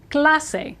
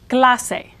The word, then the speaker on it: clase: e in the word Clase which means class the a in Spanish is an ah sound and the pronunciation guide